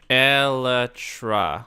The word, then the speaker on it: elytra: Elytra.